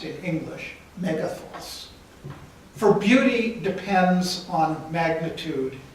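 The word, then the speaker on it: μέγεθος: be of a certain magnitude, the Greek word pronounced in English, megathos.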